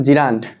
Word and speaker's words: gerund: অধিক পরিচিত ওয়ার্ড হচ্ছে জিরান্ড। জেরান্ট না আমরা অনেকে এটাকে উচ্চারণ করি জিরান্ড।